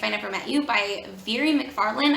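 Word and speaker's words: Mhairi McFarlane: never met you by very mcfarland i think is how her name is pronounced but this is a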